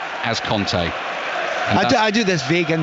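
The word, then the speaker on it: Kanté: get messages about this and go low Conclave pronounces his own name as Conte I do this Vega in the middle of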